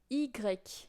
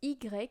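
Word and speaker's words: i grec: she's got it um so yes EG which is the uh kind of hardest um letter to remember because it's basically in word a word in the letter EG Greek I if you need to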